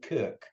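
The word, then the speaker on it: Krk: This time we're going to the largest island in Croatia, to the island of Kirk. Spelt differently, but pronounced exactly like Captain Kirk from the Starship Enterprise. The island of Kirk.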